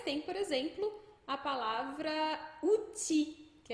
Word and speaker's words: outil: Mas tem, por exemplo, a palavra outil, que é um utensílio, uma ferramenta. Outil acaba com L, mas esse L não é pronunciado.